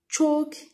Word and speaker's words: chalk: Chalk. The silent letter is L.